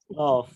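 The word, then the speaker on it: ق: উপরের তালুর সঙ্গে লাগবে কফ কফ কফ আমরা সূরা ইখলাস পড়ি কুলহু আল্লাহু আহাদ কুল কুল কুল কুল কফ জি এই কফটা ওভার গোড়া তার উপরের তালুর সাথে লাগিয়ে উচ্চারণ করতে হবে কফ এবং এই কফ গুলোর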